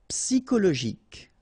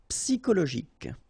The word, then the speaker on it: Psychologique: Okay, remember at the end you've got this K. Okay, so ik. And then Y is pronounced like I, psi, and then it's an exception here because normally we should pronounce it sho, okay, but then we pronounce it ko.